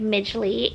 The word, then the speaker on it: Miji: My name is Miji. So that's how you say it. Miji.